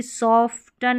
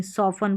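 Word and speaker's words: soften: अब इसको भी सॉफ्टन नहीं सॉफन पढ़ेंगे। क्या पढ़ेंगे? सॉफन। यहां पर भी जो टी है वो साइलेंट है।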